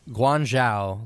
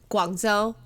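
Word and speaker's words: Guangzhou: at some festival in guangzhao like um what i just love the way you print did i say it wrong how do you say it guanzo okay well anyway that's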